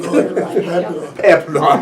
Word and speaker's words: Papano: Nancy, I'm finally saying it right. Papano, I know it.